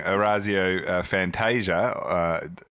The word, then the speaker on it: Orazio Fantasia: c9 was he pinching Orazio Fantasia as Brian Taylor has told us is the correct pronunciation but also he tried